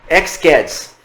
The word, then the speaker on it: X-Caddis: padrão de atado chamado x cards Possivelmente vocês devem ver algum vídeo do YouTube com a pronúncia como chamando de xcats Tá mas não tem problema o importante é que